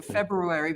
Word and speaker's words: February: There's an R in the middle of a February, but nobody ever uses it either, so you know.